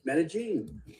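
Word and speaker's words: Medellín: Um, well, you know, if you want to make ask me questions, I'm currently living in Medigene. So, you said it right. Medigene.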